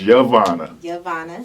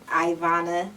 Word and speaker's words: Yvonna: pronunciation of your name my name is yavanna it's yovanna okay okay how you spelling a y v o n n a okay what have you gotten how's it been mispronounced throughout your childhood ivana ivan wyvana somebody's literally called you